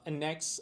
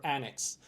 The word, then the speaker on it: annex: is the word uh anex or Annex so remember uh both pronunciations are fine you could either pronounce it as Annex or anex as a the verb